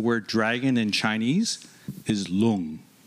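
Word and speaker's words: 龙: to pronounce the word dragon in Chinese is long like and it's spelled Lu ng oh wow so I want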